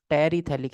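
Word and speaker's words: terephthalic: और मैं इसी का बता देता हूँ, this is Terry थैलिक acid. P silent है, ये H साइलेंट है, थैलिक THA, जो भी है, पीएच दोनों ही साइलेंट है, हटाओ।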